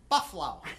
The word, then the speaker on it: Buffalo: Or, as Doug says, Buffalo. That is apparently the correct way to pronounce that.